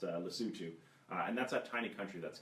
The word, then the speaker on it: Lesotho: that I am involved in in Africa and Lesotho which he may have thought was pronounced lesotho which I first thought and once